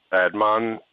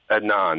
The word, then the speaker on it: Adnan: not like like he was afraid of uh admin I guess is how you say his name I don't know Anon Adnan that's it Josh says Jay actually never told